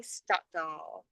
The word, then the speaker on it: Stockdall: these comments for Stockdall. Is it Stockdall? Is that how you say it? Your You're the last name? first Yes, Stockdall. person. You're the first person to ever say it correctly.